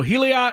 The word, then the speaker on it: Heliot: I don't know Roop, and I don't know Heliot Ramos. Heliot. Whatever his name. Sorry, guys. I'm trying. Elliot. It's just like Elliot with an H then.